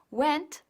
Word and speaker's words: went: Asegúrate de marcar bien la T de went para distinguirlo de when, aunque ya por el contexto se puede entender de lo que se habla.